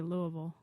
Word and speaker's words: Louisville: You're supposed to say Louisville. You're obviously not from the South.